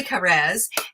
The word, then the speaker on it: Kares: like spot on you know but it's actually cares alan cares which is a lovely way to pronounce it too so welcome i really love